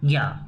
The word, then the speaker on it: ज्ञ: लेकिन हिंदी में जब हम हिंदी पढ़ते हैं, संस्कृत में इसका उच्चारण क्या होता है, ज्या होता है, ज और या, ज्या।